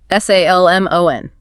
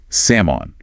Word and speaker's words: salmon: S A L M O N. Right, but we do not pronounce the L. It's completely silent. We say salmon, grilled salmon.